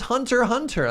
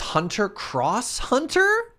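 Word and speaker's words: Hunter × Hunter: ax wherever you want I learned that you don't pronounce the X apparently it's hunter hunter that name sounds stupid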